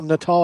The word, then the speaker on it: Natal: what else uh rafael natal i want to say rafael nadal every time i see his name he's going to come